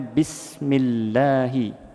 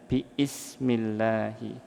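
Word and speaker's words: بِسْمِ اللهِ: Maka kita membacanya bismillahi aslinya biismillahi. Akan tetapi susah dibaca bagi Arab Fusah. maka digabung menjadi bismillahi bukan lagi biismillahi.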